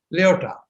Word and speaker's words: Lyotard: We in India call him His full name Lyotard. D is silent. Lyotard in France.